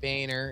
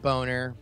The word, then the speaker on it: Boehner: Yeah, Or, John Boehner is not pronounced Boner.